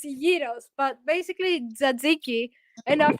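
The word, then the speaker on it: gyros: put in the gyos so you say like the Yos it's basically like say say Euros please no say it how you say itos gy roll yeah there you go it's Yos but basically ziki and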